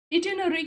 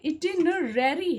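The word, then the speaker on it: itinerary: इटिनरी की बात कर रहा है, इटिनररी है, यानी कि 2 बार आपको आर वर्ड को प्रोनाउंस करना है।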